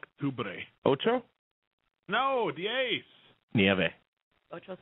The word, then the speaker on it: Octubre: It's Octiobre. Is that how you say it? Octubre. Octiobre. Octiobre. No. Noviembre? It's Octubre.